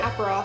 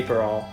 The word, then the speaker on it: Aperol: Aperol Spritz. Aperol? I always say Aperol, but that's not correct.